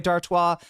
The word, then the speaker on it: Dartois: I was about to ask if it was Dartois, which would be the American pronunciation of it. I'm glad to hear that I guessed right and pronounced it with a French in a French way.